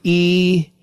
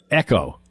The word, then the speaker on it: EGO: So Tom says that it's pronounced Echo instead of Ego.